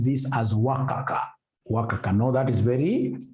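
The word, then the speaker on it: WACC: that M you should be pronouncing this as wakaka pronounce this as Waka wakaka know that is very unprofessional how do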